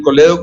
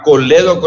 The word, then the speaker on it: colédoco: el colero con cálculo en el cole doc o hay que pronunciar todo el nombre y se llama colédoco limpiarse está bien sí